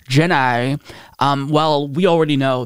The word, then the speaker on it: Ginni: thomas's wife jenny thomas i believe her name is pronounced jennai um well we already